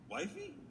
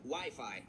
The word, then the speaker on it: Wi-Fi: blood-pressure machine kids love those things listen wifey well it's either wiffleball an arranged marriage it's actually pronounced Wi-Fi Ralph and Wi-Fi is the internet which is